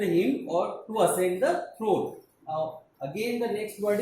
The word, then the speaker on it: throne: The last E is silent. Generally, E which comes at the last of the spelling, generally it remains silent.